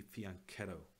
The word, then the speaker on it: fianchetto: fianchetto x' mostly because fianchetto is such a funny word apparently in Italian it's supposed to be fee on keto but I'm so ruined